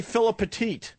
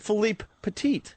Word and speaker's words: Philippe Petit: Most people say Philip Petit, so I purposely was trying to say his name right. So I said Philippe Petit.